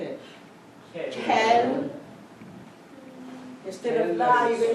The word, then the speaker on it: quelle: Even though it's Halloween, there's still no T in it. Quelle, instead of la, you're going to say quelle.